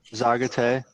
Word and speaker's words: Zaagaate: spot this time sure it's a zagate that's how you pronounce it um it means the